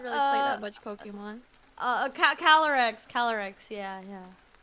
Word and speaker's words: Calyrex: am I mispronounced Calyrex? Right? It's like CAL. Yeah, I think it's like Cali, Cali, like California, and then YRE. REX. No wait, it's CALYREX. Yeah. Oh, it's a Y.